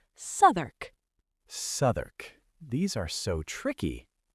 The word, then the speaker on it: Southwark: Number 4, Southwark. This is near the south bank of the Thames. It looks like Southwark, but you say Southwark.